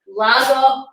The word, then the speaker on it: Lagavulin: So the pronunciation of the Scotch is Lagavulin.